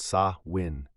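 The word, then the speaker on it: Samhain: It begins with a word samhine, pronounced saw win.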